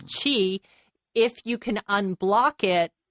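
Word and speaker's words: qi: so they believe that this life force which we pronounce Chi if you can unblock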